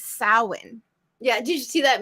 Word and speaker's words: Samhain: years ago and so I always thought it was Sam Hein I'm like Sam Hein but it's sowin yeah did you see